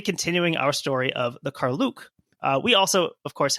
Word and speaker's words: Karluk: Lord McKinley video footage, that's how he pronounces it is Carluke.